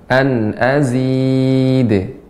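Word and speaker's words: أزيد: Jadi dia pembacaannya seperti d tapi dia cepat. An azid. Karena dia memantul.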